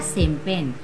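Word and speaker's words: champagne: Next देखिए आपका क्या है, लास्ट हमारा शैंपेन, शैंपेन में क्या है आपका, जी साइलेंट है।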